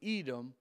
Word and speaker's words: Edom: Now, it doesn't say Edom. It uses another word. It's spelled I-D-E-U-M-O-N. Edom is how it's pronounced.